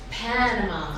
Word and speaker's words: Panama: the bottom Panama right but in English its Panama on the first syllable so the reason we